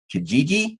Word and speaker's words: Kijiji: Craigslist and Kijiji, I believe is how you pronounce that, which is the Canadian equivalent from what Jeff tells me of Craigslist.